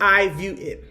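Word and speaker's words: IVueit: This is I view it. All right, so I view View it. So it's spelled a little bit differently. I V ue it.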